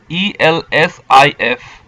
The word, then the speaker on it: elsif: Now see, in Perl, else if is pronounced in a different way. It is ELSIF.